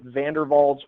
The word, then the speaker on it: van der Waals: Again, I think it's a Dutch name. They pronounce it van der Waals forces, van der Waals forces.